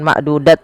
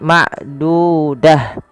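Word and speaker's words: معدودة: Apabila ada ta marbutah terletak di akhir bacaan kita, maka ia diganti dengan huruf ha. Awalnya ma'dudah, kalau dibaca bukan ma'dudat lagi, tapi ma'dudah, ya, ma'dudah.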